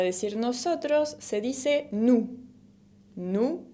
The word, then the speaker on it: nous: Nous, con la S final que no se pronuncia.